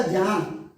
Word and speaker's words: ज्ञान: बार मिला देने से, एक ही अक्षर कर देने से ज्या हो जाता है, इसलिए तभी तो ये अक्षर बना ज्ञान, तो इसका उच्चारण होगा ज्ञान।